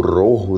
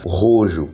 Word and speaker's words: Rojo: O Rojo, né? Que é a pronúncia certa, só que aqui no Brasil eles pronunciaram como Rojo.